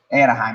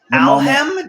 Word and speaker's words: Anaheim: Anaheim, there we go. Alhem?